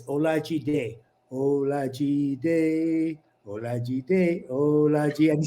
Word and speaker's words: Olajide: I never thought of it before he went, it's Olajide, Olajide, Olajide, Olajide.